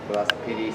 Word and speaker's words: velocipede: It's the E at the end is silent. Velocipede silent E.